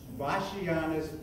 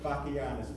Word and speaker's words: Bachianas: The piece you are about to hear is entitled Vashianas Brasileia, which took me 21 times on YouTube to get the pronunciation correct in Portuguese. In English, it's pronounced Vashianas, but let's go with Portuguese. Vashianas, that's easy for me to say.